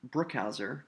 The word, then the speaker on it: Brookhauser: I have a 3-syllable last name, Brookhauser, and the first syllable is accented, Brook, and the second two are unaccented, Hauser. When I say the word Brook, the syllable Brook, it's said with a little more force than the other two syllables, Brookhauser.